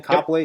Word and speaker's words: Copley: Did I pronounce that right, Thein? Copley, Yep.